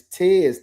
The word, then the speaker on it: Tez: You ain't saying his name right. It's Tez, T-E-Z.